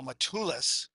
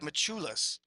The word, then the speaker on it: Machulis: I'm trying to figure out, oh, Matulis. Is that how you say it? Machulis. Machulis. Thanks, Amber, for that.